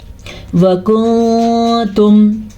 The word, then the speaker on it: وَكُنْتُمْ: وَكُنْتُمْ. کیسے؟ أَزْوَاجًا ثَلَاثَةً. یہاں پہ بھی اخفا ہو رہا ہے، نون ساکن کے بعد تا آیا ہوا ہے حروف اخفا میں سے، اور یہاں پہ بھی